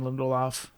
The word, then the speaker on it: Lindelof: So this was written by Carlton Cuse and Damon Lindelof, you've been saying Lindelof.